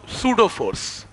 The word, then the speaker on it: pseudo: सूडो फोर्स, ठीक, P silent है, तो सूडो फोर्स।